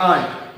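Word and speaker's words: aren't: make this word and इसको pronounce करते हैं आंट राइट आंट वो चाची वाला आंट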